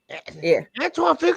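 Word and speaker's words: Antoine Fuqua: Antoine F Antoine Fuka is a good director.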